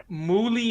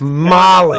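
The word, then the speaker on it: Molly Hatchet: covers muli Hatchet correct girl that he didn't pronounce that correct yeah that's right yeah I mean honestly that doesn't even sound like the way it's spelled that's a Texas accent that's not movie that's Molly oh and Molly that's my Texas accent right there mooli yeah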